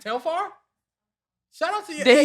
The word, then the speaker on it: Telfar: as my dj bag isn't it teflar i'm correct it's tail farm shout out to you